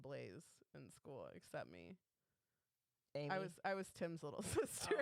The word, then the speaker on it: Aimee: AI. Aim. Like you're aiming.